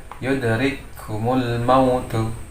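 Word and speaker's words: يدرككم الموت: Jadi membacanya adalah memasukkan suara kaf yang pertama ke dalam kaf yang kedua seolah-olah diidghamkan. Jadi membacanya adalah satu huruf kaf. Yudrikumul mautu. Nah ya. Jadi sifat hamznya pada kaf yang pertama ini menjadi hilang karena dia dimasukkan atau diidghamkan pada kaf yang kedua. Jadi membacanya yudrikumul mautu. Jadi yang bacaan yang salah atau yang tidak benar adalah yudrikumul mautu ya.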